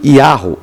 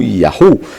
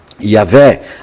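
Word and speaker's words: Yahweh: tal questão Em contrapartida parece bastante claro que a pría original de yavé foi yaho ou yahu de onde vem então uma pronúncia yavé atestada sobretudo pelos pais da igreja trata--se simplesmente de uma especulação erudita a partir da apresentação Divina em Êxodo 314 né Eh Y de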